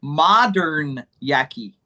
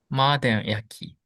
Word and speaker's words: modanyaki: The problem is it's modern yaki. Mm, It's not modern, it's modern. modern yaki. So this O has the ah sound, model, Model.